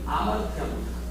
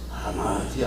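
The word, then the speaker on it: ἁμαρτία: 보세요 아마르티아 아마르티아 이게 이제 요게 없으면 아마르티아 근데 거 무슨 표시면 호흡을 내쉬면서 발음을 그래서 하마르티아 이렇게 되는 거예요 그래서 하마르티아 이게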